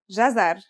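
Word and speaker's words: جزر: it out loud it should be easy it's pronounced jazar and means carrot theim is connected to the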